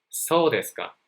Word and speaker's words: そうですか: Be sure not to raise your intonation at the end of the sentence. So you can say そうですか.